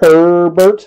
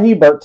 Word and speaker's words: Herbert: do have a score herbert not hebert has some people say his name is not hebert it's her bert all right mosaics uh